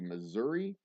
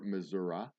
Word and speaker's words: Missouri: and huckleberry finn live that would be missouri or missouri if you pronounce it incorrectly true or false julius